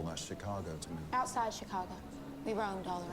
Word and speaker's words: Chicago: Chicago to me outside Chicago we roamed all around it's the emphasis on the second Sy borrowed from the French so this mimicry that